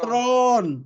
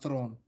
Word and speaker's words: Thrawn: Thrawn. One syllable. Yes. 1 syllable, guys. I even forgot what I was saying about Thrawn.